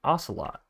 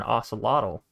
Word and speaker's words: ocelot: Ooh, an ocelot. By the way, I've learned how to pronounce it now, obviously. Last time, I don't know what was wrong with me calling it an ocelotl.